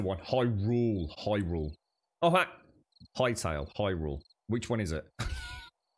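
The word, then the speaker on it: Hytale: that everyone's talking about it is high tail highle thank you uh but it's spelled h y right is it Hy t a l e is it is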